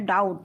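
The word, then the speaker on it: doubt: इसमें W silent है डाउट इसमें बी साइलेंट है नो इसमें के साइलेंट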